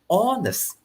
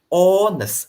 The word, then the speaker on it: honest: honor and our okay for this word you don't pronounce the sound h you won't say hornets no you won't pronounce it like that right so you will say honest honest so on us it